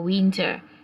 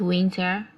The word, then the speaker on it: Winter: In English, it's winter. In German, it's pronounced as Winter. Remember, in German language, the letter W is pronounced as V.